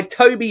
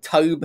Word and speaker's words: Tobe: 1974 uh directed by Toby Hooper who for ages uh because it's spelled differently I called Tobe Hooper um which is uh